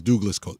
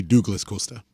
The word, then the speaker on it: Douglas Costa: He's Douglas Costa. He should be pronounced Douglas Costa.